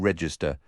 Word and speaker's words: Register: My name is with a K register, spelled like the cash register, but you pronounce the re like in reefer.